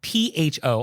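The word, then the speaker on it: phở: And so for pronunciation, the correct pronunciation, or as close as I can get, is pho. And Vietnamese is a tonal language. And so it's a low falling and then rising tone, kind of like Mandarin's third tone.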